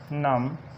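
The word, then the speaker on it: numb: Examples देखते हैं, examples कौन सी हो सकती हैं, जैसे कॉम, क्लाइम, क्रम, नम, टॉम, इसी तरह डम, लैम, लिम, इसी तरह प्लम्बर और थम।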